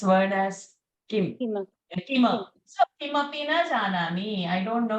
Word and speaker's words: Kimapi: When will come and mix into it, then only we can pronounce this word as Kim. Kima. So Kimapi na janami.